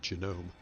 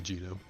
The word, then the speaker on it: genome: in the standard parasite genome it's actually genome I should probably specify that I know how to pronounce that word crackly even though for humorous sake I mispronounce It Anyways moving on it